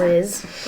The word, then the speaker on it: analyze: Because analyze, that Y has a long I sound. Analyze.